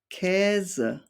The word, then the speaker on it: Käse: German words are, for example, Käse, Ärzte, Fähre. So you can pronounce this sound by making an E sound and shaping your mouth afterwards to the A sound, but still say E,